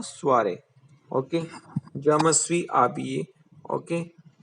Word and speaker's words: habillé: Je me suis habillé, okay. H is silent, then sound go.